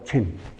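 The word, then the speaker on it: Dzogchen: Mahayana buddh there is a teaching called the Zin if you want to spell it in English you put a D in front d z o g e n if you write in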